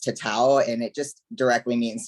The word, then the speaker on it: tatau: It's pronounced tatau, and it just directly means to mark something.